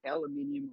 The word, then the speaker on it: aluminium: Oh, I will say a word that aluminium or aluminum, I'll take both, foil is mostly made of aluminum or aluminum, depending on your pronunciation.